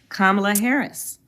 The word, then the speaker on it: Kamala: don't believe in littering no I how to pronounce kamla Harris kamla Harris my baby nieces you can go